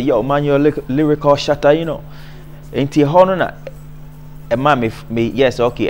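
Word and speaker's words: Shotta: You know, in Jamaican language, you know, spell it Shatta, S-H-O-T-T-A. Yeah. You know, because Shatta. Yeah, but they pronounce it Shatta still, you know.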